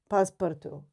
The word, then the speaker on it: Passepartout: It is pass, like passé. Yeah. Partout. Yeah.